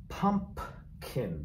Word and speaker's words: pumpkin: Her delicious pumpkin, pumpkin, P is silent though, but spelled P-U-M-P-K-I-N, pie, period.